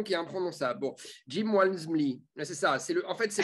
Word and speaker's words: Walmsley: non mais LMSL, excuse-moi, le mec, il commence déjà son nom par un W déjà, et après c'est Almsley. Enfin, ouais. Walmsley.